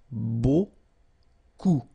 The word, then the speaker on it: beaucoup: And then you get this combination of vowels, E, A, U, and you get the sound O. So technically it's beaucoup, okay?